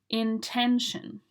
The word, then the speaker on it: intention: 3 syllables, and you need to say the 10 in the middle. Intention.